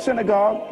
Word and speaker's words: synagogue: The word synagogue is actually pronounced synagogue. Synagogue, shina means place. Agog means meeting.